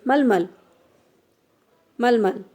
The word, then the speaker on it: मलमल: का तीसरा अक्रांत वर्ण हलंत से उच्चरित होगा जिसे यह वाला जो तीसरा और यह वाला हो गया जिसे मलमल ठीक है तो यह किसी उच्चारण होगा हलंत से मलमल तो इसको